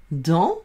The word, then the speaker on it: dans: chèvre broute, de, ayant, dans, avec un S qui s'écrit et ne se prononce pas, le, pr, et est, prêt, dans le pré, la chèvre broute dans le pré.